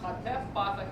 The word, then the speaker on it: hatef patah: Hatef patah is a short ah. Ah. You'd say ah, ah. That's half of the normal ah sound.